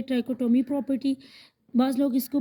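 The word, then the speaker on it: trichotomy: Properties of in equalities में हमारे पास सबसे पहली है ट्राइकोटोमी प्रॉपर्टी। बाज़ लोग इसको प्रोनाउंस करते हैं ट्रिचोटोमी प्रॉपर्टी।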